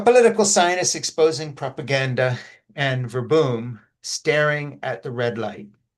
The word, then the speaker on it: Verboom: Um, and how do you say the name Verboom? Yes, Verboom? I pronounce it in the English style, verboom.